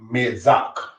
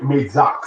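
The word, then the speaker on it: מצח: The Hebrew word for forehead is the word mezak. The word mezak, spelled with men, zade, and chet, brothers and sisters, is how one says forehead in Hebrew.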